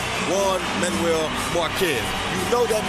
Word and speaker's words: Juan: Not hard at all, especially when you hear the name Juan Manuel Marquez. You know that means trouble as soon as the J part comes out. Although it's pronounced with a W, as in Juan, you know when you hear that, that means war.